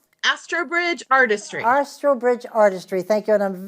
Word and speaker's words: Astrobridge: from the um as as oh I cannot pronounce this Ashley you're gonna have asro Astridge Artistry Astridge Artistry thank you and I'm very eager to